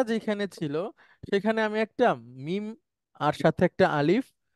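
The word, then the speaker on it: ما: ছিল সেখানে আমি একটা মিম আর সাথে একটা আলিফ এটার উচ্চারণ হচ্ছে মা একটু লম্বা করে বলতে হয় মা নিয়ে আসলাম তখন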